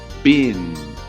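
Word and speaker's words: בן: seu formato é diferente a pronúncia desta palavra corresponde a ben ben ben filho ben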